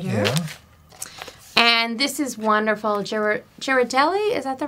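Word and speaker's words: Ghirardelli: Girardelli, is that the right way to pronounce it?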